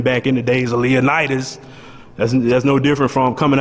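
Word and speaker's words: Leonidas: you got to say his name like that leonitis you know imagine you you know you show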